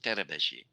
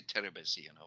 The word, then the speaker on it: Terebesi: Well, actually, the Hungarian way of pronouncing it, but I don't expect you to pronounce it that way. It's actually pronounced Terebeshi. But please just, Teterbesi. yeah, Teterbesi. it's a Hungarian name, but you just can say Terebesi. That's fine.